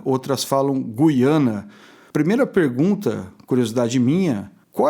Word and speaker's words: Guiana: Lá eles pronunciam Gaiana, inclusive. Eu pronuncio Guiana e algumas pessoas lá pronunciam Guiana. Mas assim, o pessoal na fronteira pronuncia Gaiana.